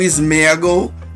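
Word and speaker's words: Sméagol: esquisito quanto ser um smagle ou Smigol como vocês pronunciam e o golam ao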